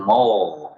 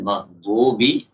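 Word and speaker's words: المغضوب: Wa minal akhta' taqribu ghainil maghdubi aydan minal kha'. Di antara kesalahan yang lain, membaca ghain pada maghdub itu dengan kha'.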